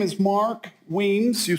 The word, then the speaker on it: Weems: good morning good morning my name is mark wiens you spell that last name w-e-e-m as a mark esses and steven that's weems i am a retired professional engineer with over